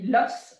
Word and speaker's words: os: où l'os les eaux alors au singulier on dit loss prononcerait slosse mais au pluriel on dit les eaux ne prononce pas l'ex réseau la peau ce